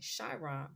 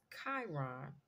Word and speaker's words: Chiron: for the longest I was calling this planet shyon but this planet's proper pronunciation is Chiron okay so Planet Kai Chiron all right now